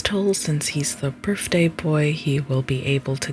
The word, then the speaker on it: Beau: His real name is Bo, pronounced B E A U.